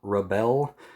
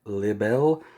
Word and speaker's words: Libere: when you're watching it it's just called rebel um but pronounced by a japanese person so it's like libel um so that's the